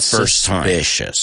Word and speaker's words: suspicious: it's a little bit suspicious. In fact, if you get it the first time, that's a little bit suspicious. Pronounce that word with me. Suspicious. It's suena igual que famous.